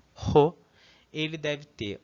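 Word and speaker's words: ほ: Então aqui o ho, né, o som aspirado do ho, ele deve ter o segundo e o terceiro traço paralelos.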